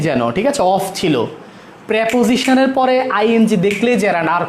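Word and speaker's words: preposition: প্রেপোজিশন, এটা উচ্চারণ প্রিপোজিশন না, প্রেপোজিশন।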